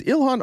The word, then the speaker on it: Ilhan: Is Ilhan Omar Elon now? Have they Do they call her Elon now? They used to say it right. Now they're just purposely doing it wrong.